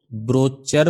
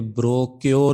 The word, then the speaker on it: brochure: کچھ لوگ اس کو بروچر بھی بولتے ہیں، پرونانسیٹ کرتے ہیں، اور کچھ افریقی ٹائپ کے لوگ اسے بروکیور بھی بولتے ہیں، بروکیور۔ آپ اسے بروشر بول لیں یا بول لیں بروچر بول لیں یا بروکیور بول لیں، وہ آپ کی مرضی ہے۔ بہرحال یہ چیز